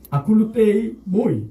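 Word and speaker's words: ἀκολούθει μοι: 그런데 헬라어는 이렇게 발음이 됩니다. 아쿨루테이 모이 이렇게 발음이 됩니다.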